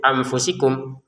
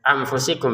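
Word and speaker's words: أنفسكم: Kalau kita hanya mengatakan samar tapi dibacanya itu anfusikum ya amfusikum berarti kan tidak sempurna. Harus jeda dua harakat. Anfusikum. Anfusikum.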